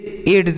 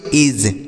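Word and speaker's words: edge: अगला EDZE, तो इसे हम क्या पढ़ेंगे, इसे एड्स नहीं पढ़ेंगे, देखिए यहाँ पर एड्स ऐसा नहीं पढ़ेंगे, ऐसा नहीं पढ़ेंगे। क्यों नहीं पढ़ेंगे, क्योंकि यहाँ पर जो डी लिखा गया यह साइलेंट है, इसे नहीं पढ़ा जाता।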